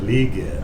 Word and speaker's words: Legette: I thought he said Legette. Oh yeah, that's how I tell everybody just to hold it. Make sure you say it with 2 E's.